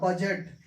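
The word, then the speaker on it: budget: में होना चाहिए तो दी जो है उच्चरित नहीं होगा दी हमें नहीं पढ़ना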